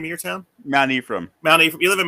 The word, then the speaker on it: Mount Ephraim: How do you pronounce the name of your town? Mount Ephraim.